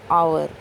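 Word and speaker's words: hour: तो बच्चों मैं बता दूं, एच जो है यहाँ पर साइलेंट है। जो हमारी साउंड आती है वो मात्राओं वाली साउंड आती है, जैसे कि आवर, आ की मात्रा होती है हमारी, ऑनेस्ट ओ की मात्रा होती है हमारी।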